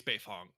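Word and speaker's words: Beifong: this point that's that's on me i i mispronounced that moving quickly and not thinking my apologies uh tom's last name it's befong uh fact none of the characters except for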